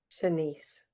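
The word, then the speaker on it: Shanse: Senise.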